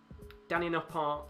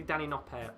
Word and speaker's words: Danny Noppert: game has completely turned Danny noart looking like the usual Danny noart that would expect it's technically Danny noer isn't it Danny noer is uh is how you pronounce it but yeah Danny noer